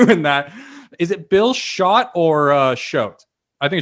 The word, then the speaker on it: Chott: Is it Bill Chott or Chott? I think it's Chott, It's right? Chott. It's neither. It's Chott.